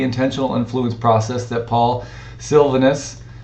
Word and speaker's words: Silvanus: The second dimension of the intentional influence process that Paul Silvanus Silvanus, I believe is how you say that.